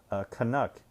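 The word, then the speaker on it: Kanuk: Canuck, another Canadian company. It's spelled K-A-N-U-K. So a little variation of Canuck.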